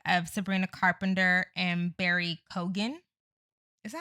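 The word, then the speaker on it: Keoghan: She talked in that article about the breakup of Sabrina Carpenter and Barry Kogan. Is that how you say his name? Keegan.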